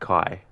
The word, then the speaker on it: KAJ: Although your sleep was good, but now you're getting ready to watch KAJ, pronounced like Kai. Oh, like Kai.